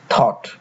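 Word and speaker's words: thought: এইচ রয়েছে তাই জি এইচ এর উচ্চারণ হয়নি উচ্চারণ হচ্ছে হাই কিংবা থট টি ও ইউ জি এইচ টি এখানে ও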